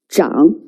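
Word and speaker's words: 长: also has two pronunciations zhang or chang it's actually referred to an old person holding a walking stick now it means old pronounced as zhao it also means long pronounced as chang okay let's write it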